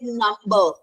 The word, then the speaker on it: number: The word like number. M and B coming together. So, what all rules you are learning, you will find the rule breakers.